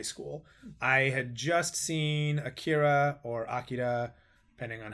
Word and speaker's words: Akira: I had just seen Akira or Akira, depending on how you want to pronounce it. It's actually Akira.